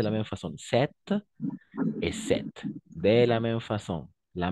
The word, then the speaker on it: sept: On prononce sept.